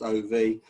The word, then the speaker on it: of: People tend not to see the F in of because they see the OF, but their brain says it's pronounced OV, and therefore there are the 6 F.